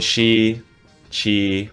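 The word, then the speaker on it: XIII: the tag 13 uh it's spelled x-iii people call me she chi but yeah i usually go by 13 prefer that and i'm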